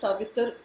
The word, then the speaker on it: Savitri: Gayatri mantra is otherwise called the Savitri mantra. Also pronounced as Savitar mantra. Savitar. In the Gayatri mantra itself, it is pronounced as Savitar because rules of grammar apply over there of Sanskrit.